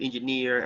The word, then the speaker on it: engineer: Engineer, actually you have the stress on the last syllable, at the end.